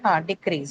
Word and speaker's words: decrease: You can make a note of this and you can check by decrease. Okay. So decrease, where do you mark? Decrease. After D. DE. Correct. So decrease, not decrease, decrease.